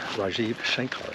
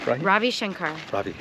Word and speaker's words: Ravi Shankar: that your father is Rajiv Shankar did I say that right Ravi Ravi no I ever I have an Indian friend who's named oh okay they spell it the same way different guy so how do you say it Ravi Shankar Ravi Shankar yes I'm